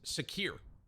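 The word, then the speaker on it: Saqr: Okay, Sack gifted another 100, donated another 100, and he says it's pronounced Sakir. It means falcon in Arabic.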